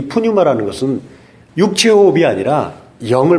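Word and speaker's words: πνεῦμα: 발음하기 어려운데 헬라어로는 푸뉴마 이렇게 합니다.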